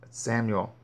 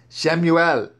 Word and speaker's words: Shemuel: until Shemuel, the prophet, Samuel. But again, Samuel isn't his name. It's Shemuel. Let's call him by his name.